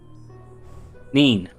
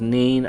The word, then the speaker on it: Nin: Nin? Neen. Pronounced Neen.